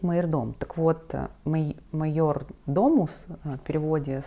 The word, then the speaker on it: майордом: майордом на самом деле для русского языка гораздо более Понятно звучит мы жирдом вот но правильно считается произносить мой дом так вот Майор Домус